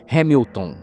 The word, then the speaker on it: Hamilton: a linda Hamilton né Hamilton na verdade é assim que se pronuncia né linda Hamilton ela